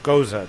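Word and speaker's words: Gose: I'm drinking is it pronounced Goze or Goza? Does anybody know? How do you pronounce it? G-O-S-E, Goza.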